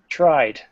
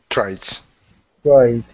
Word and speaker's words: tried: or d sound okay tried I tried tried right it it sound no there's no it okay so alicio what